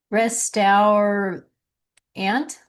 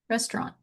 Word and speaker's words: restaurant: Privi ledge e privy privy privilege becomes privilege privilege rest our ant no restaurant or without the t on the end restaurant.